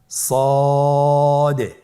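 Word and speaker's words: ص: সদ হরফটি পুর হরফ। মোটা হরফ উচ্চারণ ক্ষেত্রে মোটা করে পড়তে হবে এবং উচ্চারণ করার সময় তিন আলিফ টেনে পড়তে হবে। আপনারা আমার সাথে বলুন সদ আবার বলুন সদ।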